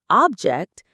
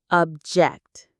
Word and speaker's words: object: Be careful, because if you put the stress on the first syllable, object, it becomes a noun, meaning a thing. We are learning the verb, object.